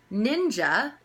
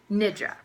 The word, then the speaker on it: Nidra: Apparently, it's very commonly misunderstood that I'm saying ninja and not nidra, which, as much as I think that sounds way cooler and I may just start calling it that, it's actually Nidra. So it's spelled N-I-D-R-A, Yoga Nidra, not ninja, though I think I like that better.